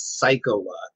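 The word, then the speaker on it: Saikawa: house Sakawa and so the way to pronounce it in the English dub was psycho WA which was fairly apparent I thought it was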